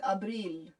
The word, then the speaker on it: Abril: Oh, in Spanish it's like abril. Abril. Ah, okay. In Spanish, Abril. okay. Abril. Abril. Like April, only Spanish, which is abril.